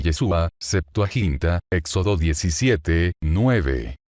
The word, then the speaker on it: Yeshua: vosotros os que callados la palabra hebrea para salvación es yeshua con el acento en la a el nombre del mesías es yeshua con acento en la u queé significa Salvador o